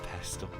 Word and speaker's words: pestle: It's just affinity Zeus for- somewhere with a mortar and pestle. Oh, pestle. The tea is silent.